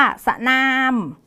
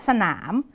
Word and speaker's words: สนาม: เป็น สนาม นะ คะ พยางค์ ที่ 2 เนี่ย จะ อ่าน ออก เสียง ตาม เสียง หอ นำ เรา จะ ไม่ อ่าน ว่า สนาม ขนม แต่ เรา จะ ต้อง อ่าน ออก เสียง ตาม เสียง หอ นำ ก็ จะ กลาย เป็น ขนม และ สนาม ซึ่ง คำ พวก นี้